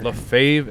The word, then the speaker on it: Lefebvre: Lance here uh from how do you pronounce it LEF LEF Leen son Leen Sons Leen and you spell that l e f b v r e yes sir Le fave and Suns all right so um